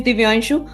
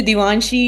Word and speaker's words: दिव्यांशु: Because my name is दिव्यांशु, अक्सर लोग मुझे दिवांशी या दिवांश बोल देते हैं तो मुझे अच्छा नहीं लगता, मैं करेक्ट करती हूँ, माय नेम इज दिव्यांशु।